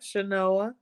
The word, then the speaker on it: Chenoa: Yep, Chenoa.